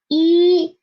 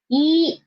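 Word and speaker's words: 一: First one is just one horizontal and its pronunciation is E. It means one in Chinese. E.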